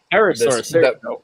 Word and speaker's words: Pterosaurus: Pterosaurus. The P is silent.